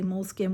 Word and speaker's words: Moleskine: who believes like H there's no correct way to say say it however you want like molski doesn't put out like how to pronounce it anymore I feel like back in the day it was mol SK I that's what I kind of just go with but like